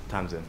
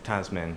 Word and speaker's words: Tamin: Tamin. So I keep delaying on saying your name because I keep wanting to say Tasmin and then realize it's definitely not Tasmin.